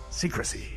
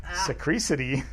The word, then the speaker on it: secrecy: By the way, I'm ashamed to admit how long it took me to pronounce the word secrecy in my head. I looked at it, I was like, secrecity? What is that even?